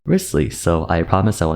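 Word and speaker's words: Wriothesley: a cringe and die inside it's not actually pronounced risely it's pronounced riskly so I promise I will never make that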